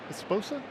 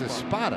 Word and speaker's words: Espada: Was it Joe Esposa? I got it wrong, don't I? Leave Sue out of this, would you please? It's Espada. Espada. Yeah. Have I said it wrong multiple times already?